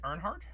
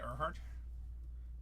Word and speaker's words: Earhart: Isn't it Earnhardt? It's spelled Earhart in here. I feel like there's an N missing. It's Earnhardt, isn't it? I'm not stupid. I mean, don't answer that. Gotta Google this now. It's Earhart, no N.